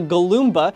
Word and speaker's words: Galoomba: We've got the Galoomba. It's more mature than the Goomba, and also its name has an extra syllable and is way more fun to yell.